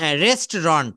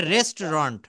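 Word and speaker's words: restaurant: চল রেস্টোরায় যাই লেটসোরেস্টরেন্ট রেস্টরন্ট সঠিক উচ্চারণটা হবে রেস্টরন্ট আমরা বাঙালিরা আমরা আমরা বাঙালিরা বলি রেস্টুরেন্ট নো আমরা তো আমাদের মত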